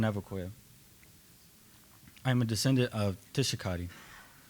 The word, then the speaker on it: Tischakahda: I'm a descendant of Tishakadi. My big sister pronounced his name Desakadi.